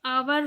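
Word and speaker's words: hour: लगता है बट जैसे आवर हुआ है एच ओ यू आर अवर हुआ तो आवर में एक चीज जो है वह साइलेंट है हम आवर ऐसा बोलते हैं तो वो का साउंड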